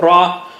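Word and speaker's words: ر: do you say it touch the tip of the tongue to the upper gums above the roots of the teeth almost same spot like lamb and noon ra ra okay because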